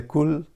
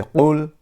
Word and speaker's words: قُل: If you say kul, that means eat, and if you say qul, means say. Then we have to learn the proper way. The bigger qaf, we have to pronounce qul.